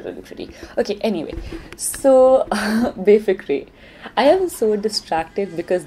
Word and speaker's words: Befikre: I want to make sure that I actually pronounce Befikre right, because what if it's like Befikre? Okay, I got the pronunciation. It is Befikre.